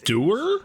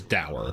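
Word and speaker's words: dour: That is doer. I just missed you. Did he just pronounce that do? That's da right. I'm not crazy on this. That word is der.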